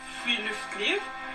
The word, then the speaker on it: friluftsliv: I've learned so far from Norwegian culture is the spiritual concept of Friluftsliv. It literally means outdoor life. Our well-being. And Norwegians love it so much that Friluftsliv, or free air life, is akin to a...